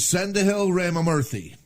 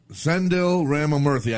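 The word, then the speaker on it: Sendhil Ramamurthy: bypass, his name is Sendahil Ramamurthy. And I hope I'm saying that right. I tried to look it up phonetically, but Sendil Ramamurthy, I think that's how the guy said it.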